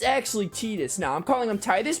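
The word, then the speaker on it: Tidus: a whole controversy about how you pronounce titus's name i know people say titus i know it's tedious i'm fully aware it's tedious from all the pieces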